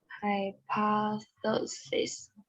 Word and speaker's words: hypothesis: Hypothesis. Hypothesis. It's a P.